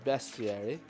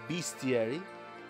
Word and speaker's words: bestiary: we are already in my bestie arey or bestiary depending on however you want to pronounce it there's a